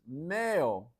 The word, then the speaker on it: meio: All right, this is mayo. Mayo kind of sounds like mayonnaise. Mayo is an easy term to practice, and wow, native speakers, just remember the pronunciation is like mayo in English.